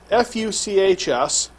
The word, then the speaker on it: Fuchs: i have a medical condition called fuchs dystrophy f-u-c-h-s it's pronounced fuchs really not the other way you can pronounce